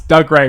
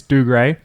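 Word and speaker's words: Dougray: a thief and then you pronounce doug ray wrong it's do great again again why i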